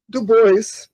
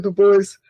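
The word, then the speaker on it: Du Bois: e e do Bois, desculpa corrigir sua pronúncia, mas eh eh W do Bois eh tinha essa ideia de que eh os negros deveriam ser eh liderados pela elite.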